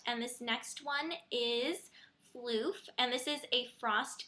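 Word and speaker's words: Phloof!: this next one is floof and this is a frost finish and I know I used to say plof but you all corrected me and said that it's actually pronounced floof so thank you for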